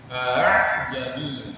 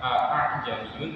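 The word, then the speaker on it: أأعجمي: Jadi hamzah yang kedua itu bacanya enggak jelas, atau di sini sebenarnya memiringkan bunyi hamzah yang kedua ya. Bunyinya a'ajami ya. A'ajami. Jadi jangan bacanya a'ajamiyun. Kalau bacanya a'ajamiyun itu salah. Atau dibaca panjang jami itu juga salah. Yang benar hamzah yang kedua itu dimiringkan jami.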